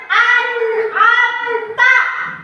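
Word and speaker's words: أنعمت: Anamta yuk ikuti. Anamta. Nah, ini ada nun sukunnya atau nim matinya bertemu dengan huruf a ain. Berarti bacanya harus jelas.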